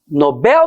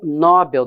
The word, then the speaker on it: Nobel: principais palavras, saber que é prêmio Nobel da Paz e não Nobel da Paz. Porque se eu pensar que é Nobel, eu vou acentuar pela regra das paroxítonas.